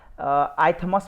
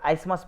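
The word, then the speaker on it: isthmus: देखिए इसमें टीएच को साइलेंट करके पढ़िएगा आप लोग। ठीक है, इसको आइथमस मत पढ़ दीजिएगा, इसको आइसमस पढ़िए आप।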